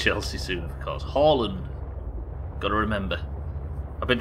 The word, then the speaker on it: Haaland: Haaland. Got to remember. I've been trying to remember to pronounce that surname, Haaland, since '95.